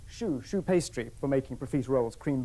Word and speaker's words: choux: But what I'm going to do, in fact, is leave that and show you something that rhymes with roux choux pastry for making profiteroles, cream buns, that sort of things.